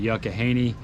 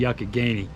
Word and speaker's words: Youghiogheny: Now you'll hear me sometimes in that video pronounce it Youghiogheny. I am not a local, so I didn't pronounce it right. It's the Youghiogheny.